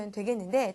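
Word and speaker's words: いいえ: ' 라고 부 를 수 있어 요 ' 이이 에 '. 읽을 때 , 모음 'i' 를 발음 할 때 같은 모음 'i' 를 만나다 .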